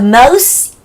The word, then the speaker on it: most: The most의 T는 거의 소리가 안 나요. The most in으로 the most in,